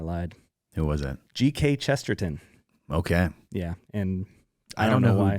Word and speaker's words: Chesterton: Not tin, ton. Ton. It's spelled ton. Chesterton.